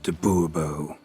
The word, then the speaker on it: du Bois: Monsieur de Bobo fine monsieur du Bois the emphasis falls on the last syllable Bobo mm-hmm see now